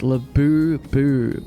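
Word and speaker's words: Labubu: Laboo is pronounced labu with emphasis on the second syllable.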